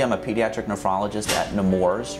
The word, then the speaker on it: Nemours: a pediatric nephrologist at nemours rhymes with s'mores ai dupont hospital for